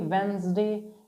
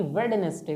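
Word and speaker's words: Wednesday: ये लिखते भले ही वेडनेसडे, लिखते भले ही वेडनेसडे हैं, लेकिन डे के साइलेंट होने की वजह से हम इसको पढ़ते हैं वेंसडे, क्या वेंसडे या वेंसडे, ना कि वेडनेसडे, ओके।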